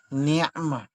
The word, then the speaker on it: نعمة: Ito ay ain, ni'ma, ni'matallah.